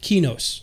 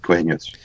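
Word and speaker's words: Qeynos: Okay, so I've always pronounced it Quenos. I always pronounce it Quenos too, but people beat me up because it's Sony EQ backwards. So I'm like trying to pronounce it the right way, saying Sony EQ Quenos, Kinos, whatever.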